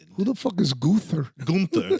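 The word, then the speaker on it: Günther: Gunther. That's how I say it, Gunther. That's how you say it in Germany and Austria, Gunther. Gunther. Gunther. Americans say Gunther.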